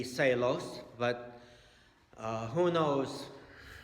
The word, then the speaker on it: Seelos: Seelos or Cee Lo's his last name is SEL pardon me s ee l OS in German that would definitely be celos but who knows how